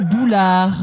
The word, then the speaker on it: boulard: Et attention, en disant bon boulard, à bien prononcer la dernière syllabe. Hein. Oui. Bon boulard.